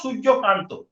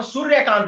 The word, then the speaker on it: সূর্যকান্ত: হ্যাঁ সিমিলারলি আমাদের honourable chief justice of India, তার নাম হচ্ছে সূর্যকান্ত, আমরা বলি বাঙালিরা বলবো সূর্যকান্ত, ঠিক। কিন্তু যখন কোনো হিন্দি বেল্টের লোক বলবে তখন সূর্যকান্ত বলে।